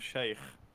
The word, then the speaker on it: Sheikh: It's Sheikh as in Arabic.